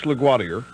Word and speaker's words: LaGuardia: here at New York's LaGuardia, which is how they say it here, don't hold it again.